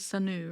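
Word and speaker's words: Sunoo: His name is Sanu, right? Like oo, not you.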